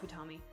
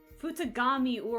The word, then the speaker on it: Futagami: No, that's not how that was said. I'm sorry, that's not Futami. Futagami. I am so sorry. I have been mispronouncing it this entire time.